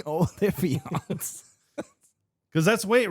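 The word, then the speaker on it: Olyphant: Yeah, Oliphant. Affiliant. Oliphant. Affiliant. There's no I in the word though. The Y is the I.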